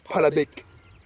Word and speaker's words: Balebechi: class of Busongora, the Balebechi clan. Balebechi. What is known among the Luos as Palabek. Palabek? Yes. Balebechi? Balebek, yes. They failed to pronounce it Balebechi, they say Palabek.